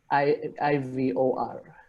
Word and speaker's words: Ivor: I'm sorry if I'm gonna pronounce the name incorrectly. It's Ivor or Ivor, Ivor, I-V-O-R.